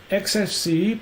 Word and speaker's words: XFCE: XFCE, pronounced as four individual letters, is a free and open-source desktop environment for Linux and other Unix-like operating systems.